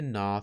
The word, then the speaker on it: gnaw: Again, even though we don't pronounce the G, it is part of the spelling.